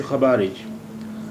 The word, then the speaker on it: خبارج: انت شو بارج، انت شو خبارج، آپ کیسی ہیں؟ انت شو خبارج، آپ کیسی ہیں؟ یہاں دیکھیے جیم ہے، لیکن اس کا تلفظ چے کی طرح ہوتا ہے۔ انت شو خبارج، انت